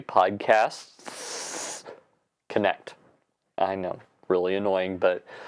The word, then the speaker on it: Podcasts Connect: the wrong thing because you have to add an S in after the word podcast. So it's actually PodcastS Connect.